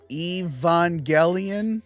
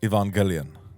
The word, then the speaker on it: Evangelion: finally made me watch Evangelion Evangelion Evangelion yes you don't have to pronounce it like an old Japanese man so I finally watched